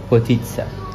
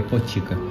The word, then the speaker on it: potica: Chama potitsa. Apesar de se escrever em português, a gente falaria potica. Potica, mas fala Potitsa.